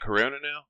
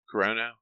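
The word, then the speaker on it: Kurono: Is it Corona? How do you say it? Corono. Corono is how the dub says it.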